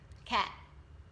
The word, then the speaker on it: can't: phủ định thì thầy đọc thành can't. It's hard. The difference yeah. is very, very small. Can. Yeah. And can't. Can't. Mm-hmm. Shorter. Ngắn hơn. Shorter. Yeah. With a very small T sound.